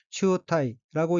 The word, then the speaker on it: 中退: 둘째 줄 오른쪽 두 번째 어휘는 한자가 한국어로 중퇴이고 가운데 중 물러날 퇴자로 되어 있고 일본어로는 치우타이라고 읽으며 치우타이는 중퇴라는 뜻의 명사 또는 수루 자동사입니다.